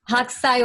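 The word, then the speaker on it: Hokusai: actually a print, one of many, from Katsushika Hakusai. Reiko, did I pronounce it correctly? Reiko's on mute. Very close, very close. Okay, can you pronounce it correctly, please? Hakusai wave, yeah.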